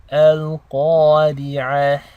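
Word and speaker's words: القارعة: The ra is a light letter because it takes a kasra. So ra maksura is light. Al-qari'ah. And we're ending on a ta marbuta, so we're making the ha sound. So it's as if you're ending on a ha sakina.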